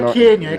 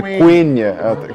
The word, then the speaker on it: Quenya: Não é Quenya, é Quenya. Quenya, né?